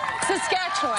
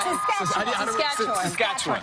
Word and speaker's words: Saskatchewan: Saskatchewan. Saskatchewan. I say it like the Muppet song.